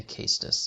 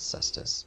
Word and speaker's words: Cestus: There's also a Castus on the ground. Some people pronounce it Cestus, but I don't see how that is a good pronunciation.